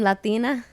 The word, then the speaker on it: Latina: i'll say that I'm latina latina yeah 10 Latino latina yeah like tea not all I watching